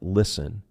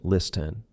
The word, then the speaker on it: listen: Okay, now there are times where you can see a combination of letters in a word and know that the T is silent. For example, STN or S10 patterns like listen. We are not saying listen. Silent T, hustle, STLE.